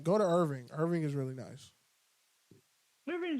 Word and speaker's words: Irving: It's Irving. Or was it Arlington? It's Irving, isn't it? It's 100% Irvine. It's not Irvine. It's not spelled like Irvine. It's spelled IRVING.